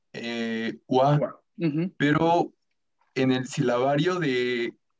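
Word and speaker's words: は: Por ejemplo, konnichiwa termina en ja, que se pronuncia wa, pero en el silabario de hiragana, el wa tiene otra forma.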